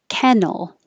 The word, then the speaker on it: kennel: some important news importantly kennel the vowel is e like head it's the same as the guy's name ken kennel and then that made